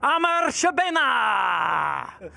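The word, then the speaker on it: Amr Shabana: Let's hear it for Amar Shabena. I had to go big on it. Amazing. How was I on the pronunciation?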